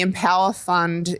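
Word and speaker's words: EmpowHER Fund: And the Empower Fund is with a silent H.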